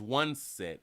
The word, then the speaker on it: Juansette: Juanset Green has been a licensed nurse in Florida for over 20 years, but her name is Juanset, and it's spelled Juansette.